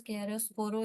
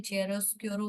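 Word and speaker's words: chiaroscuro: गया इसमें व्ट इज केरो स्कोरो इन आर्ट the contrast between light and dark ठीक है इसको अलग अलग प्रोनाउंस करते हैं चेरोस कोरो बोलते हैं केरोस कोरो बोलते हैं ठीक है तो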